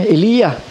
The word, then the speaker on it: Elijah: Yung pangalan niya ay God, my God is Yah, Elijah. Yun ang tamang pronunciation, Elia.